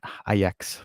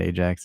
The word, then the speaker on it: Ajax: Yeah, Ajax. Buy them. We have the soap here. People always call it Ajax. Like, it's not Ajax, it's Ajax, guys.